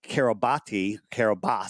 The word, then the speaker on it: Kiribati: All it says, it was registered into the nation of Kiribati, it's pronounced. And it was 850 meters long, which is a gigantic ship, 80 meters wide. So where's Kiribati?